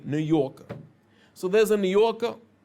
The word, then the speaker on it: New Yorker: New York is spelled Newyork, but if you're a New Yorker, you don't pronounce the R. You say New Yorker.